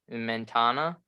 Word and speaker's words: Mentana: But they did have a momentous victory at, I believe I'm gonna butcher the name probably, Mentana. Mentana, yeah. No, Oh, you didn't Mentana.